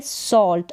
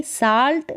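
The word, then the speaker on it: salt: का उच्चारण औ, जैसे कि यहाँ पर है सॉल्ट। अब यहाँ पर ये उच्चारण औ करके है, आ करके नहीं है। अगर आ करके होता तो ये आ होता, लेकिन यहाँ पर उच्चारण औ है, यानी कि साल्ट नहीं है, सॉल्ट है।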